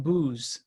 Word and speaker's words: Buz: in in Hebrew um it would be pronounced booze I'm not sure that's